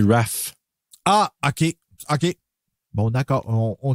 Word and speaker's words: Ralph: Oui, ça s'écrit Ralph, mais ça se dit Raph.